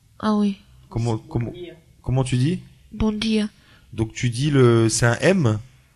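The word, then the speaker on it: Bom dia: Par exemple, le M quand tu dis bonjour. Bon. Ah oui. Comment tu dis? Bon dia.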